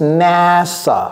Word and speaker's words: NASA: A NASA, ça se prononce NASA.